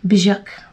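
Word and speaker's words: Björk: Bjork is the proper way to pronounce it.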